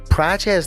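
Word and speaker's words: Prates: Praches, Praches, that how you pronounce that?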